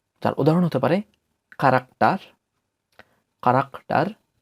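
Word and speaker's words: Charakter: যার উদাহরণ হতে পারে কারাক্টার, কারাক্টার। সে হা প্রথমে থাকার কারণে এটির উচ্চারণ হয়ে গিয়েছে ক এর মতো, কারাক্টার, বা ইংরেজিতে ক্যারেক্টার, যার বাংলা হচ্ছে চরিত্র।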